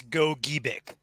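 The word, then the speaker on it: Gogebic: that out say it's go Geck it's a hard g g g g got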